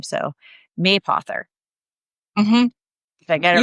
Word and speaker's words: Mapother: life, they're like, "So, how do you say your last name anyway? It's like Yeah. Yeah. May author.